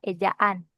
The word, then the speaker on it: ejaan: Bukan ejan ya sayang. Ejaan.